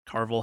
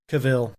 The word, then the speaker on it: Cavill: not such a big fan of Henry Cavill Carville how the you pronounce his name Cavill Cavill thank you for being Geralt and I